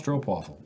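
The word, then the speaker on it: stroopwafel: Space Potato 01 for 31 months says, people, please, it's pronounced like strobe light, but with a P instead of a B and waffle instead of light. This has been a waffle-related PSA. Space waffle. Strope waffle.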